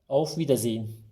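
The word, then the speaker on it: auf Wiedersehen: okuyalım bunu vida zeyin buradaki H harfini de çok fazla bastırmadan yani zey hın diye zorlamayalım Buna gerek yok h harfi biraz sönük kalıyor auf vida zein bu şekilde telaffuz ediyoruz tekrar görüşmek üzere demek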